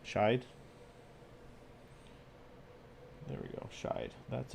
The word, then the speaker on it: shide: Is that how you pronounce that? Shide or shade? Shide.